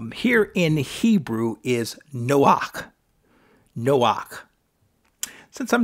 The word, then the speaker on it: Noach: So, but we would pronounce it something similar to Noach.